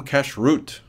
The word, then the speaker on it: kashrut: One great example would be from kashrut, and yes, it is pronounced like cash-root.